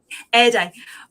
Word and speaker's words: Arda: How do you pronounce it? Say it again. Erda or Erda. It doesn't really matter. I mean, I'm quite fluid with that. I've written it how it's supposed to be written. How it's pronounced is I'm quite open for the reader to pronounce it. Yeah.